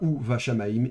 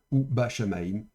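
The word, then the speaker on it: וּבַשָּׁמַיִם: son dagesh léger, on prononcera donc le bet de manière fricative ou douce, et donc on dira ou va shamaim et pas ou ba shamaim.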